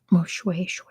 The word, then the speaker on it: Moshoeshoe: It's spelled Moshue, like the word shoe, but it's pronounced Moshoeshoe.